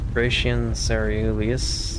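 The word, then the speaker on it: Gratian Caerellius: Gratian Ceruleus.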